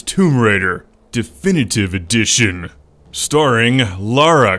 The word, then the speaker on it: Lara: raider definitive edition starring lara croft who i always mispronounce as laura croft no wonder she doesn't